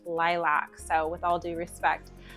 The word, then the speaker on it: Lilac: I have their lilc I keep wanting to say lilc like the color but I think they want it said lilac like the flower right I don't know if those actually have different pronunciations or what but I just want to say lilc but I watched a video from the brand and it was pronounced lilac so with all due